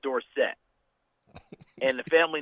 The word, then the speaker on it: Dorsett: For people who may not remember, he was Tony Dorsett until he was a senior at Pitt. At Pitt, he asked to be called Dorsett.